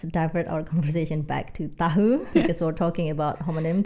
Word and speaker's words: tahu: Formally, people, you're supposed to say tahu, like saya tahu, like to say like I know. Oh, it's But usually you pronounce it tahu instead of tahu. Informally, tahu. tahu.